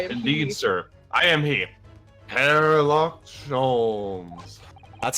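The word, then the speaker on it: Herlock Sholmes: yeah dude I indeed sir I am he hairlock ches that's how you that's how that's how you actually pronounce his name we just been saying it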